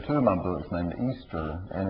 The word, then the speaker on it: Easter: a character in two of my books named Easter and it's spelled e a s t e r about half the people I talk could pronounce it Esther which I've never understood but um I think